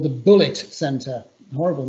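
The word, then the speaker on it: Bullitt: It was called the Bullet Center. Horrible name, but that's what I suppose I was going to say. That's synonymous with American culture, but it's spelled B-U-L-L-I-T-T. It's like the film.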